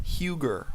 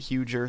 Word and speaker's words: Huger: editing this whole video it's pronounced huger with a hard G so I pronounced it huger throughout this whole video